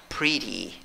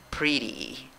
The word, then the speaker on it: pretty: palabra en dos sílabas la fuerza de voz en la primera sílaba contando de izquierda a derecha pero mira cada sílaba